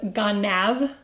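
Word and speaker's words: גנב: So it's ganav, the entire commandment is just ganav, 2 syllables.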